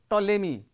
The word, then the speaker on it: Ptolemy: scientist he is called ptolemy and we are going to say a p is not pronounced here we have also